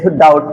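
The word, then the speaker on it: doubt: बी टी ठीक है डी ओ यू बी टी इसको ड नहीं डाउट पढ़ते क्या पढ़ते है डाउट ठीक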